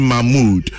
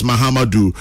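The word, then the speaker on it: Mahamudu: Allotey Jacobs keeps saying Mahmoud, which is which? Gasti man in Brekum. Well, it's Mahmoud, it's Mahamadou. Both are the same. He's actually spelled Mahamadou, but I'm sure you can pronounce Mahmoud Bawumia.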